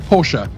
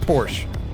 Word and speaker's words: Porsche: to properly pronounce it porsche there you go don't want to get the brits man it's not porsche it's porsche it's porch it's porsche yeah all right so